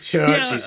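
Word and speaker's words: Chvrches: Is it Ches or is it just No, it's it's Churches. It's just spelled with a V.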